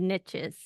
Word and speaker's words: niches: Because what you said also reminds me of a common saying, which is, and I'm saying it so it rhymes, our riches are in the niches.